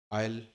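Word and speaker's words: aisle: आयल, S silent होता है इसकी स्पेलिंग में।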